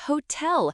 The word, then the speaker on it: hotel: The answer for question 8 is hotel. Make sure to pronounce the H clearly. The answer for question 9 is café.